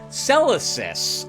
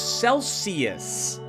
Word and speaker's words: Celesis: in the woods in Celesis, by the way. I've been mispronouncing this place. I thought it was Celsius. It's Celesis.